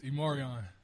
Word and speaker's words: E'Marion: It's Immoran.